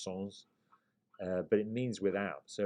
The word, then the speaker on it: sans: means without it's spelled s-a-n-s people in the states tend to pronounce it as sans but it's a french version so it would be pronounced songs but it means without